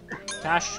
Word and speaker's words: cache: 129 from that one cache cash cache excuse me no it depends is there an accent on there otherwise if there isn't it's cash cash money cash